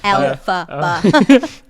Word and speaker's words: Elphaba: I had to write it down to be able to He's pronounce got it right. Alphaba.